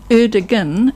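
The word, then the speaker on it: Erdoğan: And one of the things is the G in the Turkish language is not pronounced G. It means you lengthen the vowel before it. So instead of being Erdogan, it is Erdogan, but the O in front of the A is, so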